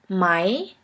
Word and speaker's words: Mai: The first one is RE and AE, which is pronounced like the English word for I. I. Here we have the example of the word Mai, which means the month May.